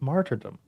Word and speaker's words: martyrdom: I'm like it's martyrdom. There's an R in there.